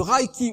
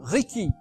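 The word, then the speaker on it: reiki: n'est pas non plus le raiki ou le Riki selon la prononciation dans la méthode de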